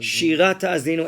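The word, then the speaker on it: Shirat Ha'azinu: Can you pronounce it? Shirat Ta'azin. Shirat Ta'azinu, excellent.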